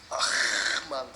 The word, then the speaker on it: Ahmal: But people are going to like me if I'm Peter and not Ahmal, which is the precise pronunciation, very difficult to get right.